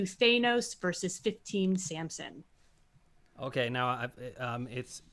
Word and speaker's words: Thanos: And we round out the bracket with number 2, Thanos versus 15, Samson. Okay, now I'm just going to help you out here. It's Thanos.